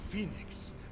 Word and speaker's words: Fenyx: is awesome turtle I like the turtle so Phoenix yeah that that is how it's supposed to be pronounced seems like a lot of work but